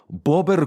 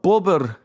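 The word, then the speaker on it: bóbr: You can share with me the Polish memes of bober kurwa, kurwa bober. That's Polish for oh fuck, a beaver. Bober is beaver or a beaver. Bober, BOBR, is how it's spelled in English, I guess, and then kurwa, KURWA.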